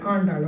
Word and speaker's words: Andal: Andal. It's very important. Andal, okay?